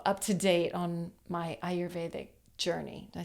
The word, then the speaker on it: Ayurvedic: you you know up to date on my ayur veic journey did I say it right okay good